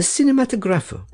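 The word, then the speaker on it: cinematografo: That you were seen at that very hour at the Kirkhouse, in the Cinematographo. Herr Settembrini gave the word the Italian pronunciation, with the accent on the fourth syllable.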